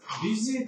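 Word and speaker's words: busy: で、忙しいはこれ、ビジーと読みます。ムシーと読まないように、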